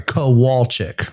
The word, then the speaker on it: Kowalczyk: Sorry, Kowalczyk. That's how you say it.